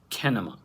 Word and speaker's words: Kinema: the founder of kinema that's pronounced kinema right yep you got it right it's like cinema that's what i thought